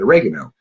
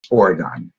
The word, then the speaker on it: Oregon: which when I was younger I called it oregano and it wasn't until I got out here